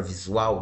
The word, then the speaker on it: visual: Veja que a palavra visual não tem acento. Mas vamos ver onde que o som é mais forte. Visual, visual. Tá vendo que a sílaba forte é a última?